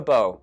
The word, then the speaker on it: Bo: weirdly low blow for beau a weirdly low blow for bo there we go it rhymes i have nothing else